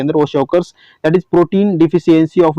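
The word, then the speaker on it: kwashiorkor: पे तो क्या है वॉशिओकर्स। ओके वॉशिओकर्स कहते हैं इसे। ओके के साइलेंट होता है इसके अंदर, वॉशिओकर्स that is protein deficiency of disease.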